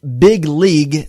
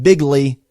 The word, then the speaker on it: big league: Uh, so he's pronounced big league. That is what he's saying. Like Major League Baseball. Yeah, big league, not bigly.